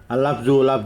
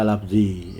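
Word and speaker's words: اللفظُ: Al-lafzu bacanya al-lafzu karena marfu, khobar itu marfu. Tanda marfu'nya, tanda rofa'nya dengan dhammah. Jadi bacanya al-lafzu, tidak boleh al-lafzi ya.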